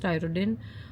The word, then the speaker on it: Tyrodin: For the face, she's given me Tyrodin. That's how it's pronounced, Tyrodin.